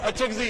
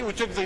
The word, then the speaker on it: اچکزئی: کو سکھا دیں گے۔ وہ اچکزئی ہے جی، اچکزئی نہیں ہے، آپ کی نالج کے